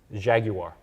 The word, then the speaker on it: Jaguar: have we have a Jaguar XF sure you're pronouncing it right Jaguar there you go mhm yeah more syllables better uh yeah um you